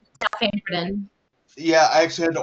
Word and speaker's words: Dalfampridine: Dalfampridine.